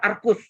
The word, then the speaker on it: arcus: Siklometri itu yang arcus, ARC ya tulisannya. Bacanya arcus.